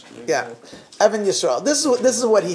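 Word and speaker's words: Even Yisrael: I heard this from Adnan Steinsaltz, or Adnan Yisrael. This is what he said. Yeah, Evan Yisrael.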